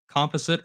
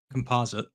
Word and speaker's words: composite: Wait, I'm curious, by the way, side note, how do you say that word? Do you say composite or composite? Probably depends on what day of the week it is. I think I've probably used either one.